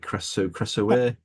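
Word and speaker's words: Krasue: I think I'm pronouncing that right. Creso, it's a Casu. Yeah. Yeah. Yeah. You said it correctly.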